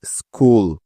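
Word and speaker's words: school: যাক আর নিয়মটি হলো শব্দের শুরুতেই এস এর পরেই সি এইচ এই বর্ণ দুটি থাকলে ওই সি এইচ এর সাউন্ড সবসময় ক এর মত হয়ে যায় তাহলে চলো এখন এই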